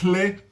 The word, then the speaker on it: hle: Ou pode colocar esse hle, que na língua coloquial é pronunciada como dle também.